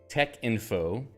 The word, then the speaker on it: Texinfo: screen and you're saying why is it not Tech info well um because uh this was I think drives from Tech which is a type setting system Tech type setting system